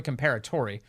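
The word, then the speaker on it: Comperatore: My Corey reminded me how to say this. It's Corey Comparatori, who was killed by that assassin this weekend.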